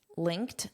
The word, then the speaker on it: linked: Linked. Notice that pronunciation of the t linked. Linked. So this e d forms a t sound link to but